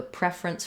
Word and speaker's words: preference: use the e or red tent vowel so you can think about the word ref or red I have a preference for red match that vowel to get that correct and then the second syllable rinse is going to just have a reduced vowel again we're back to our schwa or our I sound preference preference or preference